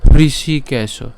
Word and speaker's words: হৃষিকেশ: মুক্ত এব মুক্ত হৃষিকেশ এখন এই যে হৃ উচ্চারণ কিভাবে করব এই হৃ উচ্চারণ করার জন্য আমি এর আগে বলেছিলাম যে আমরা ইংলিশ এইচআর যদি লিখি এইটা যদি উচ্চারণ করি তাহলে উচ্চারণ কেমন হবে হৃ হ্যাঁ তাহলে তার সাথে শ্রী তাহলে হৃষি হৃষি তাহলে হৃষি কেশো খুব সহজে আমরা উচ্চারণ